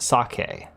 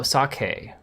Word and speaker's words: sake: Sake, the drink is pronounced sake. Oh, sake.